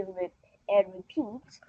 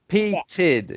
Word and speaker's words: repeated: All right, she repeats. Yeah, repeated. You need to pronounce the end of that word.